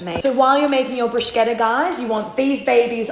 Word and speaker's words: bruschetta: Okay, so first up, our bruschetta. Am I pronouncing it correct? Not so much. It's fine. Like the correct pronunciation is a bruschetta. Bruschetta. Yeah, the CH sounds like a K.